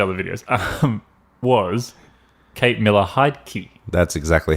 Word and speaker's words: Miller-Heidke: haven't watched the other videos um was Kate Miller hide key that's exactly how you pronounce it well done that's how we're going